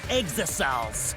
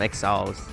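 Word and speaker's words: exisal: And if you even try to interfere, we'll just crush you with these here exosols. The exosols. Okay, so that's how you pronounce it. Exosols. Okay, I was pronouncing them exiles.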